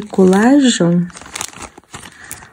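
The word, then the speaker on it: Kollage: le monde, je pense que c'était les aiguilles collage. Collage. Voilà comme ça ça s'écrit.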